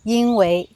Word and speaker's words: 因为: yīn lǐ bian kě néng hái dú zuò yīn wèi 标准的发音里边可能还读作“因为”（wèi） phát âm tiêu chuẩn có thể vẫn đọc